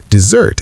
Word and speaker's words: desert: Desert as a verb is pronounced desert.